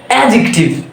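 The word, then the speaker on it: adjective: উচ্চারণ নেই sandwich sandwich number two আমরা বলি এডজেক্টিভ ছোট দিয়ে বলতে বলতে মুখে এখানে চলে আসে তাই না এটা কিন্তু এডজেক্টিভ না এখানেও ডি এর উচ্চারণ নাই তাহলে এটা কি হবে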